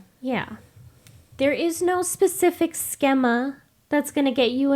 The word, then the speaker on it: schema: It's actually pronounced schema.